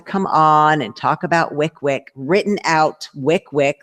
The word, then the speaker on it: WYCWYC: you want to come on and talk about Wick Wick written out Wick Wick like he got it he knew there was a pronunciation and I thought I know that the